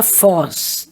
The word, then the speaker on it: Voss: Há uma curiosidade diz que, muito possivelmente, o nome original, o sobrenome, era Voss, com V, cuja pronúncia em alemão seria Foss.